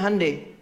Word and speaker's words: Hyundai: Makanya Jepang bikin Honda, Korea bikin Hyundai. Betul, Hyundai itu pengucapannya, Hyundai tulisannya.